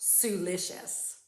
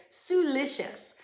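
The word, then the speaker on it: siliceous: how to pronounce it it's spelled s-i-l-i-c-e-o-u-s now when i looked at the word i went oh it must have something to do with silicon right has it kind of in the beginning i never thought it would be pronounced suelicious but i had i pressed a little button that i could hear it suelicious so what seeped into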